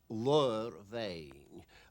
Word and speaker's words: Ladhar Bheinn: the pronunciation of that is lore vain word means a hoof